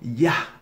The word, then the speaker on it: Yah: Yah, la primera sílaba, Yah. O Yah, o sea, pues con una H suspirada al final, Yah. Entonces, este nombre Yohanan, lo que significa es Yah ha tenido gracia o Yah ha tenido misericordia.